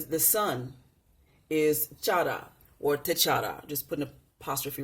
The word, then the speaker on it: T'Challa: T'Chara. Now, it's spelled T'Challa. But in Kemetic language, the L sound sounds, well, the R sound sounds very much like the L and the D when it's rolled, okay?